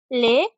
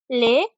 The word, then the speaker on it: les: we do in english so it now becomes lay shells the pronunciation is lay shells so say it with me lay shells lay shells perfect so the pronunciation of